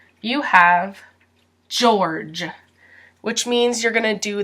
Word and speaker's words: George: for pronunciation you have George which means you're gonna do the jaw jaw sound jour you don't pronounce the e Georgia Georgia and you don't pronounce this e either so Georgia George George George George now